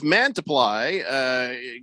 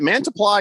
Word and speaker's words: Mantiply: Is it Mantiply or Mantiply? It's Mantiply. Mantiply. Mantiply. That's what I said. Mantiply. You said Mantiply. You've got the emphasis on the wrong syllable.